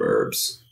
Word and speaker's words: herb: I think some British people do say herb instead of herbs. But in America, we say herb, like herbs and spices. Yeah, I definitely pronounce the H.